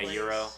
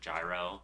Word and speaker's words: gyro: Yeah, the cor like the the Greek pronunciation would be Euro, but like everyone in America usually calls it gyro because of like how it would be read.